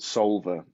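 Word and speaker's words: Soulver: the week would be there's an app called solver it's spelt s o u l v e and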